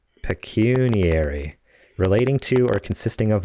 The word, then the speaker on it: pecuniary: that a word google says that's how it's pronounced pecuniary relating to or consisting of money basically they're